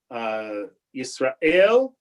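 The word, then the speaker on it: ישראל: Yisrael, right, is stressed on the last letter.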